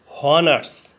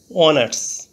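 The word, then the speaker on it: honours: হয় বাংলা হ এর মতো প্রথমে এইচ ধরে উচ্চারণ করলে হয় হনার্স কিন্তু এইচ এর উচ্চারণ না হয়ে ভাওয়েল ও থেকে উচ্চারণ শুরু হয়েছে অনার্স এইচ এর উচ্চারণ অন উচ্চারিত থাকায় এবং ভাওয়েলের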